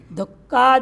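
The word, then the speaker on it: दुःख: दुख मुक्त दुख मुक्त दुख का उच्चारण कैसे करते हैं आप लोग? थोड़ा उच्चारण करो तो दुख दुख। इसमें बीच में क्या है? विसर्ग है। तो विसर्ग का उच्चारण कैसे करेंगे? ये जीवा मूली है। तीनों में अंतर क्या है? अरे वो बोलना नहीं उच्चारण करके बताओ। ये कुछ अंतर दिख रहा है।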